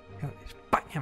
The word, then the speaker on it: España: los enemigos de España España me gusta así haciendo con acento en la a en la primera el comisario Jaime barrero